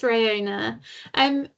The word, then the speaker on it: Riona: Is it Riona? Have I pronounced that right? Yeah, it's Riona.